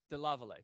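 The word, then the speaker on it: DeLarverie: never pronounce her last name could you please pronounce it again the lavalier thank you i can never get it right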